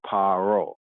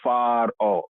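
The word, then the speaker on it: פרעה: And here, right, we have the Hebrew, paro, right? Sometimes pronounced as faro.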